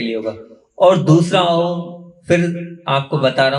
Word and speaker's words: ओम: नाक से तात्पर्य ये है दांत, तालू, जीभ, होठ, कंठ, ये कोई भी अवयव इस अनुस्वार के म के उच्चारण में काम नहीं आएंगे। सिर्फ एक नाक से एक ध्वनि निकलेगी, वो ओम होगी।